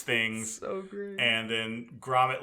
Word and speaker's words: Gromit: Wallace and No, Gromit.